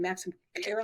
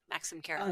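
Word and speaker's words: Maxim Karolik: Max Max I'm not gonna say his name Maxim Carol yes you said it perfectly yes yes yes Maxim Carol he and his wife there's a whole story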